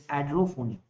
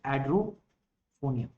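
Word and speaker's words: edrophonium: IV a androphone if it's not Andrew it's adrophone okay spelling is wrong I told you spelling please don't worry about that so it's add row phoneme and so what are the result so Hydro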